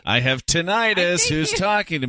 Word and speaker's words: tinnitus: Is it tinnitus or tinnitus? Because I've heard it pronounced both ways.